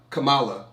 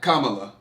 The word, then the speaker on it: Kamala: How do y'all pronounce her name? Kamala Harris. That's I say. Are we saying it wrong? I say Kamala. That's how you say it. It's not Kamala.